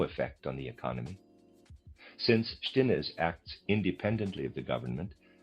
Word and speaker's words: Stinnes: Stinnes could accomplish anything within the German labor force? Readers aside, Stinnes, I'm pronouncing it that way, is spelled S-T-I-N-N-E-S, Stinnes. End of readers aside.